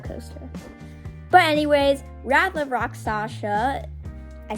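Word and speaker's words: Rakshasa: of rock shasa aka the hardest name to pronounce on any dive coaster but anyways Wrath of rock Sasha I said it right there let's go it's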